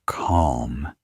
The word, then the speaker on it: calm: The word calm has an L, but you don't hear it.